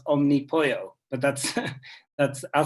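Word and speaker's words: Omnipollo: name right but uh the brewery i would pronounce omnipoyo but that's that's i'll say it a couple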